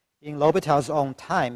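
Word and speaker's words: L'Hôpital's: In L'Hopital's own time, he would have written this way with an S here, even though the S is silent.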